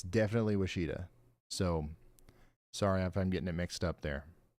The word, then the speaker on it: Washita: Washita. Okay, all right, my bad. There's another place. I can't remember if it was Wisconsin or what, but it's spelled the exact same way, and it's definitely Wichita.